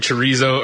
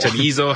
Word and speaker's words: chorizo: I think she said it's pronounced more like it's a D.